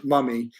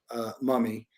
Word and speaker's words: MVMI: If I go to and it's called, by the way, it's called muh-mee. It's spelled MVMI, but it's pronounced muh-mee.